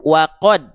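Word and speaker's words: وَقَدْ: Maka huruf dalnya dibaca cukup wakod.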